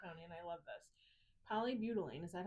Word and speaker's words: polybutylene: Polybutylene, is that how you say it, Greg?